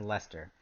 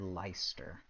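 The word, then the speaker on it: Leicester: that you s I can see it says Lester but without that it looks like a weird leister you know it looked like it would be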